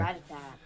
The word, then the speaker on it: Rattata: Rattata, which is how it's supposed to be pronounced.